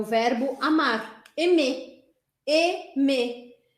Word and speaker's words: aimer: Sempre que você encontrar as letras A, I juntas, você vai pronunciar isso. E ou é.